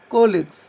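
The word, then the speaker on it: colleagues: এখন তোমরা দেখতে পাচ্ছ কোলিক্স, উচ্চারণটা হলো কোলিক্স।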